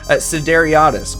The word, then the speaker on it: Sideriadis: Sideriadis, correct?